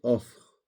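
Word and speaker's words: óðr: Voilà donc un petit manga ça ODR qui veut dire ça se prononce offre.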